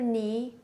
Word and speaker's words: knee: K, N together, K is silent.